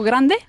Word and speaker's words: grande: Vale, pues vamos a poner la E al final y entonces la D se va a pronunciar grande. Ah, La E del femenino que pones no suena, no es grande.